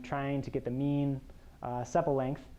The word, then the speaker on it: sepal: to get the mean sepal length. I just learned that was pronounced sepal, by the way. In my head, I always pronounced it sepal, which apparently is not correct.